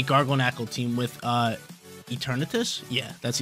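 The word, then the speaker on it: Eternatus: up against a gargo knle team with uh eternus yeah that's eternus I didn't know if I was pronouncing it wrong for a second but uh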